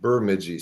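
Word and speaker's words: Bemidji: local around here you know that it is pronounced burmi State University because it's way up in northern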